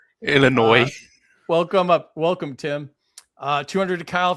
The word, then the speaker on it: Illinois: Who the F pronounces the S in Illinois? Illinois.